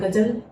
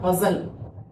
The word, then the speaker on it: غزل: چاہیے، بہت ضروری ہے۔ بعض لوگ کہتے ہیں غزل، تو غزل کوئی لفظ نہیں ہوتا، غزل بالکل دونوں جگہ جیسے غین اور زین اس کو۔ اچھا بہت سے شعرا